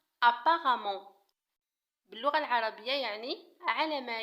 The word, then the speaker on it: apparemment: apparemment تكتب apparemment ولكن تنطق apparemment باللغة العربية يعني على ما يبدو أو على ما يظهر.